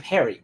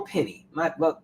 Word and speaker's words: Penny: Perry, I'm sorry, why do I keep saying Perry? Daniel Penny.